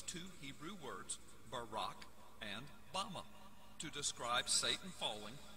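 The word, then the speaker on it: במה: in the Strong's Hebrew dictionary and it is pronounced Bama Bama is most commonly used to refer to a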